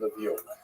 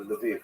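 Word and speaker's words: Lviv: So this is in the western part of Ukraine not too far from Levie or Leviv as it's pronounced now.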